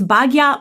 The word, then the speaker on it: Bhagya: And so I was talking with her and my publisher and I'm like, it's Bhagya Madana Singh.